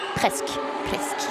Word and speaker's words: presque: That's a lot of French word to Presque. Yeah, there's not an E at the end, just presque.